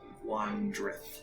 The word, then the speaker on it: Wandrith: Wandrift. Wandrift. H. Silent H. Wandrith.